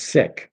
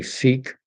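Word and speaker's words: Sikh: Uh the turban notwithstanding he's sick. That's the way you're supposed to pronounce it. Sikism. That's the faith. Most Canadians say sik.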